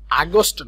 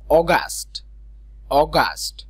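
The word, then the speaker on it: August: এটা একটু ক্লিয়ার থাকতে হবে, আগস্ট না, অগাস্ট।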